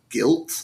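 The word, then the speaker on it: Gylt: time ago but it's called guilt I think is how you pronounce it it's g y LT um but they announced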